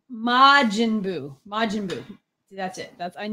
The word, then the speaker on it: Majin Buu: Majin Buu. Thank you. I need Greg here every week to tell me how to pronounce things.